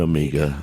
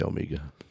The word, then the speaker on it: Omega: No, I say I think you could say either. Of them. You can say either. Americans say Omega. Yeah, I say Omega because Yeah, but do we want to be Americans?